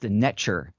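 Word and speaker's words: neter: So, and that nature comes from the Cometian tradition, pronounced netcher, spelled NTR.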